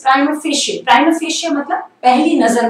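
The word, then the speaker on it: prima facie: प्राइमा फेशे, कुछ लोग इसको प्राइमा फेशे बोलते हैं, प्राइमा फेसी बोलते हैं, या फिर परिमा फेसी बोलते हैं. These are नॉट the right pronunciation. The right pronunciation is प्राइमा फेशे.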